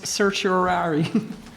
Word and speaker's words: certiorari: So I'll read it if you tell me again how to pronounce certiorari.